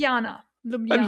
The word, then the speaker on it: Ljubljana: Ljubljana. Ljubljana.